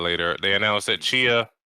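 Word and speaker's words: Tchia: Chia, which we were pronouncing as Tachia before, is coming to PlayStation Plus Extra Tier and above in March.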